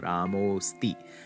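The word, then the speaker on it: रामोऽस्ति: Remember, the avagraha, the S, you write it, but you don't pronounce it. So Ramosti.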